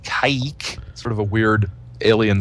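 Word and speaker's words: Kazik: aliens from the planet i think was pronounced caic it was uh k-a-z-i-k but pronounced kaik sort of a weird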